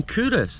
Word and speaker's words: Culross: the royal baron of kurus pronounced kurus nestles in a hollow